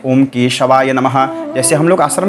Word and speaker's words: केशवाय: पढ़ने नहीं आता है बहुत से पंडित जी लोग बोलते हैं ओम केशवा नमः ओम केशवा नमः ओम नारायणाय नमः ऐसे भी बहुत पंडित जी लोग बोलते हैं लेकिन शुद्ध उच्चारण होता है ओम केशवाया नमः ठीक है ओम नारायणाय